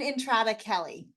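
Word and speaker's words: Entrada Kelly: How do you say her last name? It's Erin Entrada-Kelly. Thank you, Erin Andrade-Kelly.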